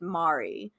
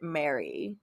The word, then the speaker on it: Mari: they talked about her every time they pronounced her name in like shows and cartoons and all that stuff they always pronounced it mari so for me i would have pronounced it mary see that's my problem